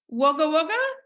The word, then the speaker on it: Wagga Wagga: and you're from oh am I going to pronounce this right wager wager oh well done you didn't say wager wagger I can say wager wagger but I still feel weird saying waga waga I'm like can I pronounce that correctly you